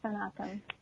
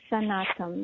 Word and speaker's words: Snatam: But I decided to keep my name, so it's Snatam, like sun and autumn.